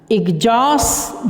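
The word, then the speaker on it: exhaust: देखो, एग्जॉस्ट, जॉ के ऊपर ये हल्का सा है तो इसका मतलब इस पे फोकस करना है, तो ये यहाँ पे सेकंड सिलेबल पे आपको स्ट्रेस डालना है।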